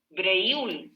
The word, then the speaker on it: Breuil: Mauro Petit Breuil, Presente. Breuil, ahí sí, perdón, le estoy cambiando el apellido. Así se pronuncia, ¿cierto, Mauro?